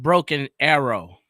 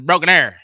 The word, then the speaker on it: Broken Arrow: It's not Broken Arrow. It's Broken Arrow.